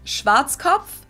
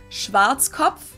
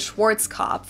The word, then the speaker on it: Schwarzkopf: Because anything W is a V.